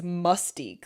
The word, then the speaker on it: Mustique: sense yeah so but it's not even spelled like Mystique it's Mustique like musty that would have made